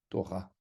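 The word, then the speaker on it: תורה: Et donc, Torah se termine avec un kamat sous la lettre resh et avec un he à la fin du mot. Et on va prononcer A, Torah.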